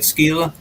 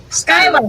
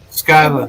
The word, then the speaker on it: Skyla: Wow, that is amazing, right, Skeela? Skyla. Her name is Skyla. Skyla. In the comments, it's pronounced Skyla.